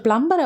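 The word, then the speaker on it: plumber: சரியாவே தண்ணி வரமாட்டேங்குதே கொஞ்சம் பிளம்பரை வர சொல்லுங்களேன் யாரங்க வர சொல்லணும் பிளம்பரையா இந்த வேர்ட்ல இருக்கிற பி சைலெண்ட் அதனால நாம பிளம்பர் அப்படின்னு பி உச்சரிக்காம பிளம்ம பிளமர்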